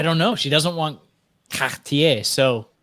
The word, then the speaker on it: Cartier: She doesn't want Cartier, so Cartier. Look at that. Yeah, no, You want to stand out? This She wants to pops. stand out, Nomos. By the way, it's not Cartier, it's Cartier. Cartier.